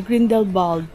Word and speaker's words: Grindelwald: Today we're warmer clothes because we are going to the Grindel or Grindel Bald yung tamang pronunciation nila dito.